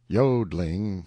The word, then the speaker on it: yodling: we call tyes warbling the yodling pronounced yodling emphasis on the o continued and was very